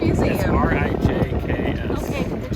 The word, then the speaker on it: Rijks: Rick's Museum. Rick's It's Museum. Rijks.